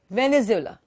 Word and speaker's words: Venezuela: with the vanilla okay venez illa how you pronounce it is Venezuela alright the next one